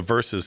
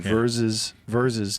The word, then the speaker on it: Verzuz: Yeah, well, Swiss Beats started that, the Versus thing.